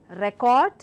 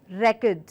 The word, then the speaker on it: record: different context altogether so when I say record I am stressing or the first part of the word it's a noun and I clearly mean